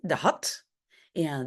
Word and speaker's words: had: Ik had, non, pardon, on a un T de had et un D de dorst. Hein? Parce que ça ici se prononce comme T, had, et le D ici se prononce comme D.